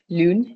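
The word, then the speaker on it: lune: Lun is moon. U is more like sound in French. So you'll every time you see U it will more it's it's more like lon um deo which is a bicycle bike.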